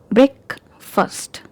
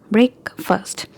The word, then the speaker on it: breakfast: Breakfast. Breakfast. When we had these two words separated, the pronunciation was different, like break, fast. But when we joined these words to have another word, the pronunciation changed.